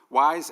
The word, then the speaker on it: YS: years I've created the wise yaml framework so wise is the new yaml engine it's pronounced wise because that's the plural of Y Ys right um wise